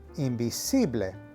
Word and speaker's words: invisible: e sound now interestingly the word for invisible is spelled exactly the same in spanish however the pronunciation is imbible the third and final